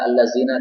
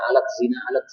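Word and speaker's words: الذين: Sebenarnya bukan alat zina dia bacanya, allazina ya, salah itu.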